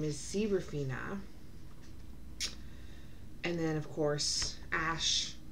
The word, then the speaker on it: Seraphina: I was saying main character's name wrong. So her name is Seraphina.